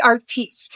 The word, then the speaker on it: Artiste: T the Artiste. Oh, there you go. Sorry. You gotta have the French version so it's more fancy.